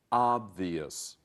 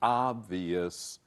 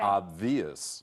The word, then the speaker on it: obvious: Remember, it's 3 syllables. The first syllable, not the second, has the accent or stress. The same for the adverb, 加 ly 的时候. So, obvious, obviously.